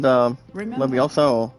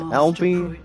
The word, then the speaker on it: Levioso: We had Levioso or something. And the pronunciation, guys, is LB. No, not LB. LEVIOSO.